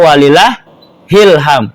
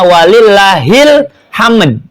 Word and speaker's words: walillahil hamd: dan seterusnya itu sampai walillahilham. Ingat tulisannya tuh walillahi alhamdu. Maka dibacanya walillahil hamd gitu kan. Jangan walillah ilham. Isi ilham siapa di bawah-bawah itu? Ya. Kebanyakan ujungnya ilham, padahal hilham.